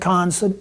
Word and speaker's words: Keynes: right here, John Maynard Keynes, or John Maynard Keynes, some people will pronounce it.